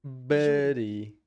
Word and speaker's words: body: O D pronuncia como um R da palavra. Body.